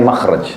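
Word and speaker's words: مخرج: Bahasa Arabnya itu mim, kha, ra, jim. Bacanya makhraj.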